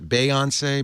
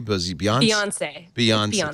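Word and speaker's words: Beyoncé: They got the exclusive on Beyonce's, how do you pronounce that? Beyonce? Beyonce.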